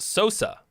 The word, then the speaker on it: Sosa: write off everything or it's pronounced Sosa like Sammy Sosa oh okay Sosa uh